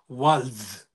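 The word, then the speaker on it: Walz: starting starting starting point one small correction his pronunciation of the last name is Tim WS there is there is a z there W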